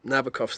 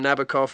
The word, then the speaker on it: Nabokov: day be so pretentious the rhyme Nabokov with nasty cough I forget what the rhyme was I think it was cough actually shake and cough rhyme with nabakov um I just think